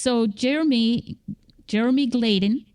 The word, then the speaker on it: Jeremy Gladen: So again, Jeremy Gladen. Did I say it right this time? You did.